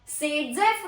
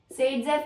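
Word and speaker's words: Saytzeff: सेडजेफ rule यह कहता है सेडजेफ का स्पेलिंग क्या है?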